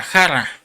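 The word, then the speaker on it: χαρά: Y esta palabra gozo viene una palabra este griega que se pronuncia jarra, que quiere decir alegría, deleite, gozo.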